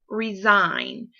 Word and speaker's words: resign: So find the word resign. We're looking for the silent G, as in design or resign. You don't hear the G sound, or you don't even hear the J sound.